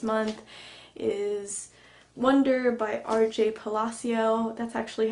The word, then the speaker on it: Palacio: I finished this month is wonder by RJ Palacio that's actually how you pronounce her last name okay I made a